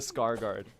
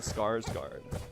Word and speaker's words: Skarsgård: The Scar Guard. That do be how people pronounce his name though. It's the Scars Guard.